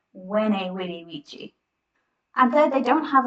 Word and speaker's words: veni vidi vici: So you might have heard people say, veni vidi vici, I came, I saw, I conquered, and they pronounce it with a V, a vene. Really, you should say it like vene vidi vici.